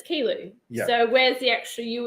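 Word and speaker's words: Kiulu: it as tarangano but then we went to kilo the other day and it's spelled k-i-u-l-u now we would have said kiolu but it's kilo so where's the actual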